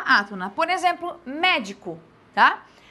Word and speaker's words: médico: Por exemplo, médico, tá? Médico, eu tenho a sílaba tônica aqui, na realidade, é só essa daqui. O di e o co são sílabas átonas, tá?